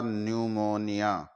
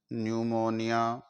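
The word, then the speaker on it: pneumonia: कर लेते हैं स्टूडेंट्स एन से पहले प आ जाए तो हम उस अक्षर को साइलेंट कर देते हैं उसका उच्चारण नहीं करते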